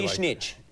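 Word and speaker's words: Višnjić: I would say Visnjic, but it should be Visnjic.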